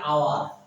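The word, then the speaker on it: hour: প্রিয় ভিউয়ার্স, এবার দেখি ইয়ান আওয়ার, এইস আছে কিন্তু হয় আসলে হাওয়ার, কিন্তু উচ্চারণটা আওয়ার হইছে, আমি বাংলা উচ্চারণ ধরে রেখেছি।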